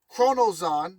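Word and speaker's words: Choronzon: But all seriousness, Kronosan, which you should have his name written down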